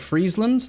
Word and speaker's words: Friesland: You say it like Friesland, not like French fries?